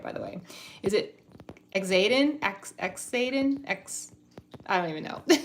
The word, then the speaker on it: Xaden: Okay, it is Zayden, but with an X, right?